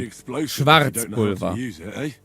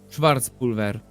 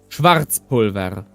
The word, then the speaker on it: Schwarzpulver: Schwarzpulver. The Germans would pronounce the R with the throat. Schwarzpulver.